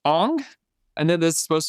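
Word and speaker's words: Aang: The pronunciation is Ang. If you've seen this movie, it's Ang.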